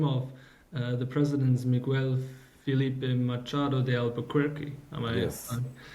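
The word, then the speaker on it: Miguel Filipe Machado de Albuquerque: So these were the name of the president's Miguel Felipe Machado de Albuquerque. Am I pronouncing this right?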